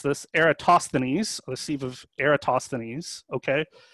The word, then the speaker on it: Eratosthenes: So our canonical example is, I'm gonna look at my reference here on how to pronounce this, Eratosthenes, the sieve of Eratosthenes, okay?